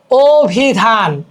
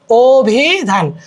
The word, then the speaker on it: অভিধান: এটা বললেই তোমাদের কমপ্লিট যেমন দেখ অভিধান অভিধান এখানে আছে অবা হয়ে গেল ও অভিযান এখানে আছে হয়ে